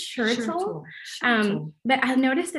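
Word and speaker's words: Schertle: truck by alice and i hope that i pronounced her last name correctly we we sounded out earlier er i believe it's shirtsell um but i've noticed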